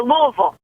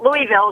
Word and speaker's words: Louisville: go ahead kim yeah it's like you say louisville it's not louisville it's louisville you want all half of it got it i've been doing my best to say louisville all day long just put marbles in your mouth and you can say louisville um but anyway as